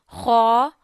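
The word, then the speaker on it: خ: Okay, so kha pronunciation is you read kha from the first part of your throat. And this is also a mustalia letter, the letters which pronounce from our first part of the throat. We read them in a thick voice, thick tone.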